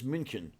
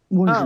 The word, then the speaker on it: München: The city is München. Okay. It's what people here call Munich. München, Oh. yes, Muchen. The U has an Umlaut. umlaut over it.